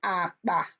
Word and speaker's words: akpa: KP is pronounced as P. Example, akpa.